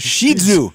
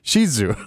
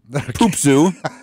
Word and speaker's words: Shih Tzu: It's pronounced Shih Tzu. Shih Tzu. Yes, okay. It is, and he is a doll. Since when? 6 o'clock tonight, or no? That's the correct. It's not Poop Zoo.